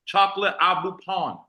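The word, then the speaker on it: pain au chocolat: croissant in Philly listen you call the chocolate croissant chocolate abuan that's how you say it in French that's a chocolate croissant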